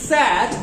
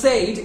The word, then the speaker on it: sad: It's sad, not said, it's sad, like bad and bead.